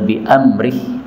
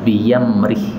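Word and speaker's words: بأمره: 32 ini ada kata-kata biamrih ini kalau dibacanya berhenti maka boleh diganti ya biyamri tapi kalau lanjut harus Hamzah ya fil Bahri biamrii kemudian di sini ada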